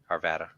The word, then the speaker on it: Arvada: Arvada.